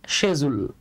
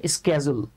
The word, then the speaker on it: schedule: দেখেন, আমরা অনেকে এটাকে বলি শিডিউল। হ্যাঁ, আমরা অনেকে এটাকে বলি শিডিউল। মজার ব্যাপার হচ্ছে এটার ব্রিটিশ উচ্চারণ হচ্ছে শেজুল। হ্যাঁ, ব্রিটিশ উচ্চারণ হচ্ছে শেজুল, আর আমেরিকান যে প্রোনাউন্সিয়েশনটা সেটা হচ্ছে স্কেজুল।